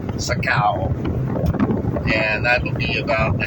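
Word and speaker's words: Sa Kaeo: Thailand route 359 about 50 km west of Saka which is spelled s a space k a e o Saka and that'll be about the halfway point between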